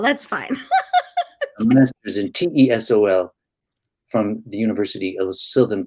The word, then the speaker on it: TESOL: Do you say all those letters, or do you say TESOL? Oh. TESOL. Did I put MAT sol in there? The whole thing. Yeah, just say T sol. That's fine. A master's in TESOL from the University of Southern California.